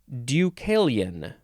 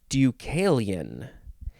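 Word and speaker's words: Deucalion: for that matter the next word this is ducalian ducalian it is spelled capital d e u c a l i o n ducalian it is a noun from 1565.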